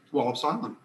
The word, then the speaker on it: Wallops Island: of cape charles you can go to you pronounce it wallops island okay it's the wallace island flight facility visitor